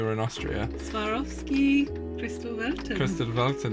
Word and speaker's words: Kristallwelten: Kristallwelten, yeah, I think that's probably how you say it. You have to put an accent on when you say it, just to make it sound like correct.